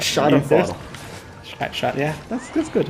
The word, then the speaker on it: Schadenfreude: Yes, you almost pronounced it right. Schadenfreude.